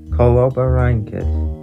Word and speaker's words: Coloborhynchus: the terrasaur oh god let's see if I can pronounce this colobank I am pretty sure that's how you say that name but do correct me